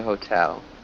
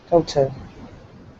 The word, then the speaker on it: hotel: pronounce hotel we say hotel hotel yeah a hotel a hotel hotel so it's just a long o sound so hotel watch that yeah just remember to emphasize the second syllable so let's have a